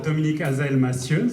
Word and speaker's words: Dominique Hazaël-Massieux: got this dominic has ooh yes yes Dominic as I'm a student that's a correct pronunciation although everybody just called me you